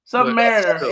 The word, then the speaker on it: Submariner: Isn't it Submariner? Submariner. It is Submariner. That's how it's pronounced. But yeah, I thought it was Submariner when I was a kid.